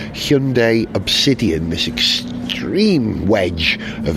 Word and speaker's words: Hyundai: Hundday Hyundai. No, it's going to rhyme with Monday. Hyundai Obsidian.